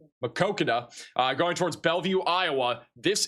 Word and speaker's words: Maquoketa: And then down here near the Marquetta area, I mispronounced it again, Maquoketa, going towards Bellevue, Iowa.